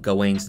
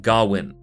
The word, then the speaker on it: Gawain: and the green knight there are several interpretations of the pronunciation of gawain's name and in the film they tend to go with gawin in this video i'll go with gawain the original poem is